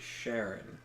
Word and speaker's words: Chiron: It was Chiron. I went to school with someone with that as a last name. They pronounced it Sharon.